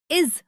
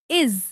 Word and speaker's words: is: जैसे बहुत सारे लोग इस शब्द को इज बोलते हैं। लेकिन यह इज नहीं है। यह है इज। इसमें ज के नीचे बिंदी आती है जिससे ज की आवाज निकलती है।